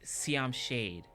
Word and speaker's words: Siam Shade: the name of the band is this it's pronounced Siam shade and uh the way that he sang his